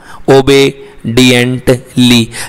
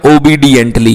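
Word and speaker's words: obediently: इ एन टी हां ओबेडिएंटली जब आपका प्रोनंसिएशन सही होगा ना तो आपकी स्पेलिंग गलत नहीं होगी आप पढ़ते हो क्या ओबी एंटली क्या पढ़ते हो गलत हो गया प्रोनंसिएशन ही गलत हो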